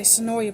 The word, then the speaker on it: Senoia: hometowns the Senoia theater is it sonoya or sonoy I've heard it so no way okay it rhymes with enjoy tonight oh that's great